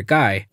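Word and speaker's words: Gai: out because ha ha his name is gay even though it's probably pronounced guy but whatever ryan rookie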